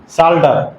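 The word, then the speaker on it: Psalter: इन the context of साल्टर P silent है।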